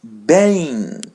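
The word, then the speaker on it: bem: If it comes in a word which has three letters, we're going to pronounce it as a and the letter N is a white N as the word bang.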